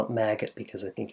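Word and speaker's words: Magit: like to call it maggot because I think it's kind of cool but it's probably pronounced magic or something that rhymes with magic it is really nice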